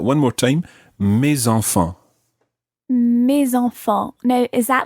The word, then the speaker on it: mes: And the plural is mes. Mes. And it ends in an S. So normally the S is silent, but when it's followed by a vowel, it becomes mes.